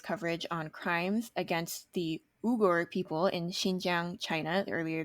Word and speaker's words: Uyghur: on crimes against the uber people in xinjiang china earlier this year please note that you might have heard it pronounced as uyghurs before which is common in the english speaking community and this pronunciation has